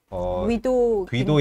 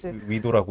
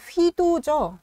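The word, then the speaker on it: Guido: 그 다음에 귀도 인벤스라고 해야 되나요? 위도라고 읽어요. 휘도죠. 네네. 예. 좀 이름이 특이한데요. 그러니까 그 스펠링으로는 G가 써 있는데 네네네. 휘로 읽는다 그러더라고요.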